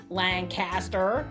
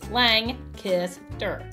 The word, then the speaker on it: Lancaster: to correctly pronunciate Lancaster it's not Lancaster it's lanter there you go Lancaster that's right that's an important if